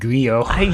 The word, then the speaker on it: Grillo: number of things like it's actually pronounced Frank griot yeah I don't know